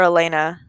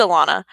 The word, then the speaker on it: Alana: you pronounce her name i think it is alana or elena no it's alana um the the songs